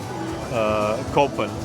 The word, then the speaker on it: Copen: But it's spelled with a C in the market, right? So Copen, right?